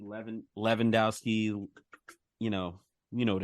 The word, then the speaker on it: Lewandowski: Lewandowski 11 Lewandowski you know you know what it is uh pronounce the W as a v that's the way they pronounce it right how Germans do it